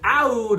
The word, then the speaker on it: Aoud: I've heard some people pronounce it Aoud Lemon Mint because they spell it with an A. It's spelled A-O-U-D, but I believe it is still pronounced Oud.